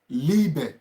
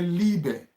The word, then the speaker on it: Liebe: Hallo, meine Liebe. So, Liebe is being spelled as L-I-E-B-E. Liebe. That's love. Liebe. L-I-E-B-E. Liebe. Liebe. So when I and E is together, then it's also pronounced as E.